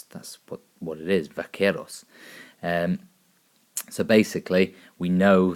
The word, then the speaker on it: vaqueros: the Mexican Cowboys which were called Vaqueros Spanish pronunciation is in great there that's that's what what it is Vaqueros and so basically we know that America managed